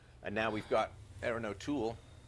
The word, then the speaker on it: O'Toole: now we've got erin o'toole emphasis on the last syllable conservative leader in canada